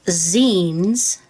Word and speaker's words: zine: I'm sure there are many of you that already know about zines. That's spelled Z-I-N-E, and it's the back part of magazine.